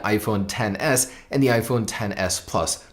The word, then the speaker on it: iPhone XS: year will be the iPhone 10s and that is awesome if you spell it how it's written XS yes it's an XS